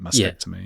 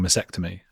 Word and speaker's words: mastectomy: something people keep saying masectomy uh which because it's because of the V is that vect it does have a t in it maybe I'm over pronouncing